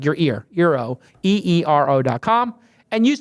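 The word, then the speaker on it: Eero: quick message for arrow mr. pronounced arrow what is it pronounced it's zero right euro is a the world's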